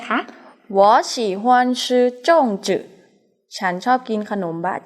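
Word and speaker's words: 粽子: ขนม บ๊ะ จ่าง ออก เสียง ว่า สู้ สู้ จง จื่อ ขนม บ๊ะ จ่าง ขนม บะจ่าง นะ คะ อัน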